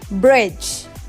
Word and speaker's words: bridge: The other word where D is silent and it's bridge. Bridge. If we say bridge, it's weird. We say bridge. And D is silent in this word.